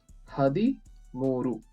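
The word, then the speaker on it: ಹದಿಮೂರು: So 1, 3 is 13, and 13 is pronounced as Hadi. So you have to tell Hadi, and then add 3 to this. 3 means Mooru. Okay. Hadi, Mooru.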